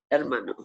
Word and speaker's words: hermano: the brother el hermano and the h is silent in spanish so you'd say herman el hermano you're right the boys